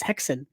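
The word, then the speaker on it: Häxan: And this is the silent film, the Swedish silent film called uh Haxon or I believe the Danish uh pronunciation is Hexon.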